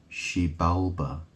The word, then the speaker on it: Xibalba: But it's pronounced Xibalba.